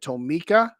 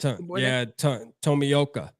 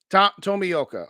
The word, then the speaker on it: Tomioka: Shout out to Nephew's brother, and I must probably butcher it, so you can correct me, but is it Tomika? Is that how you say it? Tomioka. Tomioka. Okay.